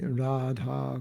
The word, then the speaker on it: Radha: Every syllable in Radha's name, every syllable is long.